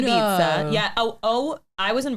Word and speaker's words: Ibiza: Yeah, we met in Ibiza. And if you don't say it like that, you've never been to Spain, and it shows. Wait. But is it Ibiza or is it Ibiza? It's Ibiza. That's how the Ibiza. Spanish, they say Ibiza.